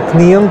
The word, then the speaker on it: Nc'nean: We're talking to Annabel Thomas from the nc'nean Distillery. Is it pronounced correctly now?